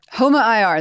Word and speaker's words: HOMA-IR: HOMA-IR. HOMA-IR. That's how you say it.